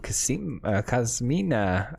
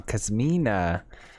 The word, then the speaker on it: Kasmina: it i doubt it oh cosmina i keep saying the name wrong kasamina all right let's go